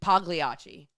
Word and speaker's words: Pagliacci: local pizza place here Pagliacci Pizza which if it was in New York that's not how it would be pronounced because it's p-a-g-l-i-a-c-i it would be definitely would be Pagliacci in New York you would say the g I don't know 100